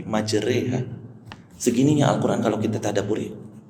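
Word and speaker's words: مجريها: Makanya bacanya nggak Bismillahirrahmanirrahim majroha wa mursah, tapi majreha.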